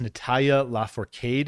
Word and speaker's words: Natalia Lafourcade: featuring black thought and um I believe it's Natalia lafourcade is how you say that is your third